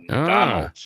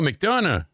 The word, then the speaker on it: McDonough: McDonald's. Okay. No, McDonough. McDonough. Oh, Yeah, you got to say it like you're having half a stroke and you haven't shit yet.